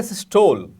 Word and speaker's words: सिस्टोल: एक है सिस्टोल और दूसरी है डायस्टोल। इसको सिस्टली भी कहते हैं, इसको डायस्टली भी कहते हैं, what ever you pronounce it's okay.